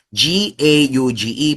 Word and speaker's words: gauge: G A U G e. Pero ang pronunciation ay gauge.